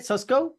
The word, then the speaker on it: Susco: talking about his business susco is that how you say it susco uh yes sir all right all right